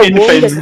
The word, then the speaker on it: womb: I think it was I think it was in the womb. I think it No, I think it's infant, bro. Why did you add a B on the The B is silent.